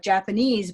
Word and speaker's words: Japanese: And so here, when we have Japanese by itself, I speak Japanese, Japanese people are lovely. And suddenly, it's no longer here, it's here. It hopped by 2 syllables.